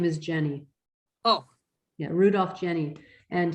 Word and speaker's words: Jenny: His last name is Jenny. Oh, Yeah, Rudolf Jenny. And he, which he might pronounce like a Y, but it's called the Swiss Orchid Foundation, and his database is called Litbull, Litbul.